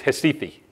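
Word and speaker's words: Recife: it looks like recite pronounced in Portuguese it's histy fee now whether you ever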